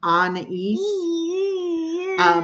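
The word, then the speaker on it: Anaïs: But we put the 2 dots over the I to make it the French pronunciation of Anais.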